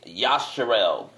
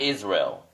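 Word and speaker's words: ישראל: It's Yasharel, not Israel.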